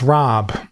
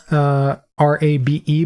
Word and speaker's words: rabe: It's pronounced Rob. All right. I've never seen R-A-B-E before, so I assumed it would pronounce Rabe.